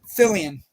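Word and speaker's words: Fillion: Fillian. Fillian.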